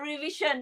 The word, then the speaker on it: revision: Oh my God, all this the word revision, right? Revision. All these years we've been saying revision. Now, okay, let's correct our mispronunciation and say it as revision.